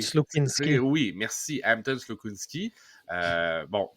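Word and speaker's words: Slukynsky: Mais dans les buts, entre autres, on voit Trey Augustine, Hilbrand et j'ai de la misère à prononcer. Slukinski. Slukinski.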